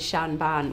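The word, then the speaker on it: seanbhean: granny smith fun fact the Irish for old lady is Shan ban which is spelled the exact same way as the actor Sean Bean so whenever Sean Bean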